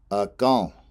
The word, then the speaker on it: akan: It has a nasal in right before the L at the end of the word. So that in is nasalized, so it's pronounced akan. Akan.